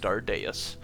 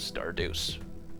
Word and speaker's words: Stardeus: recognition, I know that it's supposed to be pronounced Stardeus, but the way that you want to say it to me is Starduce just immediately like because just Stardius just like